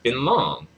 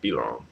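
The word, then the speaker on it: Fei Long: Next is Finlong. Uh, Filong? I don't know why I'm having trouble pronouncing these guys' names. Filong. I don't know why I'm saying Finlong. It's Filong.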